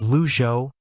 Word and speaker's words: Le Zhou: the court said please state your name and spell it the witness said my name is luo l e h u the court said you